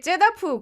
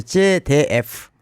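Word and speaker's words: ZDF: 독일의 제다프 공영방송이 있어요. 거기서 10년째. 발음을 정확히 해야 되는데 제데프.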